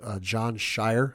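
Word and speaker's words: Jon Scheyer: was Duke head coach John Shire I believe is how you say his name yes uh he said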